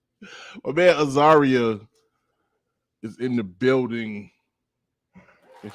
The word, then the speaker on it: Azariah: to pronouncing the name because I know someone with a similar name, with the same spelling, but pronounced differently. So it's like, okay, I can't say it that way. It's Azariah, not the other way.